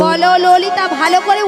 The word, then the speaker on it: ললিতা: বলো ললিতা, ভালো করে উচ্চারণটা করো ঠিকঠাক করে।